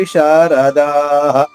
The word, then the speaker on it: విశారదాః: ఒత్తుతో మహాప్రాణము survey యుద్ధవి విశారదాః విశారదాః ష దీర్ఘంగా అలాగే ర తర్వాత ద దీర్ఘంగా విసర్గ ఉచ్చారణ హ హరస్వంగా సర్వే యుద్ధవిశారదాః పూర్తి శ్లోకము